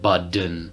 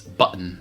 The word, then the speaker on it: button: The double T in the middle of the word is not a D in American English. It's the glottal stop. And I think most speakers use the glottal stop here. Yeah. For button, not button and budden. Yeah. It's button. Yeah, button. That typically happens, again, when you have a T before an N.